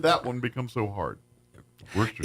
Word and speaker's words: Worcester: It's wor If you look at it, it's like uh the same thing with Worchester, Maine. You know, I've always that's what I've called it for most of my life. And they're like, "It's Worcester."